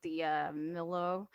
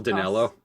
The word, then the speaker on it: Dinello: So there's like Amy Sedaris, Paul, I will say his name wrong. What is it? Paul D'Amello. Paul Dinello. That's it.